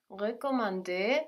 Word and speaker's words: recommander: je peux recommander la voiture, And the RE of to recommend, it's just a normal E. It doesn't have an accent written over it. So how should that sound, to recommend?